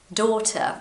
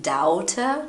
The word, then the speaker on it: daughter: Daughter, if you are Brazilian, again, you are probably saying daughter. No, it's daughter.